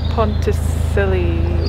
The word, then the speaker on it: Pontcysyllte: do you check aqueduct check tunnel and the pontesilli it's how you say it aqueduct and then